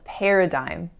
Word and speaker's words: paradigm: And word number 10 is paradigm. Paradigm. And for the longest time, I thought that this word was pronounced as paradigm.